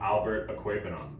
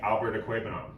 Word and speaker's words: Okwuegbunam: My first fantasy pickup of the week, I'm going to say his full name right now, Albert Okwuegbunam.